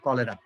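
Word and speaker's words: cholera: এটা উচ্চারণ এটা হচ্ছে চলেরার মতো এরকম, ঠিক আছে? কিন্তু আসলে উচ্চারণটা হয় কলেরা, ঠিক আছে?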